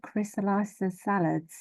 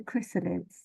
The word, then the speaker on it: Chrysalids: bringing you the chrysalids chrysalids by John Winden not the crysa salads how I was trying to pronounce it a moment ago oh God I'm so sorry it's the chrysalids chrysalids yeah so this